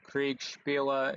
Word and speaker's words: Kriegsspiele: I've been looking at Wargaming or Kriegsspiele, if you want to pronounce it in the original German, and I really like